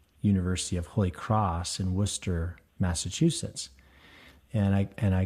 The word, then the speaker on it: Worcester: I asked for a ticket to war Chester and um the the gentleman behind the counter just he didn't even react and I said again I need to get a ticket to Worchester and he said we don't have one of those destinations uh I think you would like to go to Worcester and I looked behind